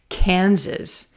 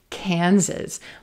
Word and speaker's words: Kansas: Kansas, Kansas. Z-z-z. Try that second syllable with me. Z-z-z. Yes, our S's are going to sound like Z's here.